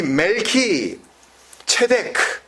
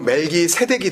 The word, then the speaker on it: 멜기세덱: 그래서 멜키 체덱, 우리 발음으로 멜기 세덱이 된 거예요.